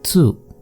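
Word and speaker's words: つ: Then next is tsu, not tu. In Japanese they don't pronounce ti or tu. It is chi or tsu.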